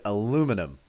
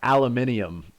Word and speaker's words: aluminum: phil wants me to say the word aluminum not aluminium like the crazy people over there say because aluminium is basically